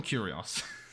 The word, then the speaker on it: Curios: the word properly um it's not written like curious it's like curios let me call them curios um so i'll select